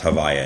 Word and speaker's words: Havaya: We can call it, by the way, that's called Havaya. It's often pronounced Havaya in shorthand in Chassidus. They refer to that name. It's the switching of the letters, so you're not pronouncing it properly.